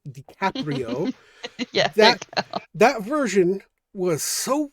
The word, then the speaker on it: DiCaprio: It's Like Romeo and Juliet with Leonardo DiCaprio dicaprito I can't say his name DiCaprio yeah that version was so weird it was